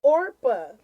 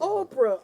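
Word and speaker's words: Orpah: who's stomping them stupid name is supposed to be orpa from the Bible from the bible really yeah but her mother probably was pronouncing it different and said you know Oprah Oprah from the Bible yeah and they spelled it the way she pronounced it and look how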